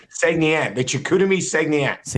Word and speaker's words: Saguenéens: It's Saguenéens.